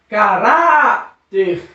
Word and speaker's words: caráter: pegar conversei para que a palavra caráter nós vamos separá-las cá Heart e três sílabas caráter eu já sei que a palavra mais forte a sílaba mais forte é pra que significa que é uma sílaba tônica certo então se eu sei que a a a sílaba lá é mais forte então eu sei que ela não é oxítona ela é paroxítona porque na penúltima sílaba